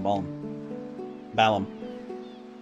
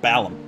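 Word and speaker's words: Balamb: and pop back in bone balance i actually recently learned it's pronounced balum i don't know why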